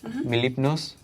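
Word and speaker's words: Mlep: your name my name mipn can you spell that please m l e p did you say yes the is silent another SNL castmate of Andy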